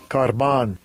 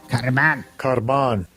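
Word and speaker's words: κορβᾶν: This is how they pronounce it. Strong's G 2878. Karban. Karban.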